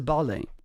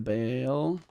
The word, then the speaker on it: Bale: The second way it's for Garrett the Bale like the soccer player.